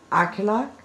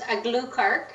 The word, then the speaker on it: Aglukark: my special guest, Susan Aglukark. How do you spell that? How do you say that? It's pronounced Aglukark. Aglukark. Aglukark, yeah, so phonetically U-G-H, Aglukark.